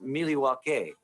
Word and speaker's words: Milwaukee: devil sam kids actually it's pronounced miliwake which is algonquin for the good land so do you come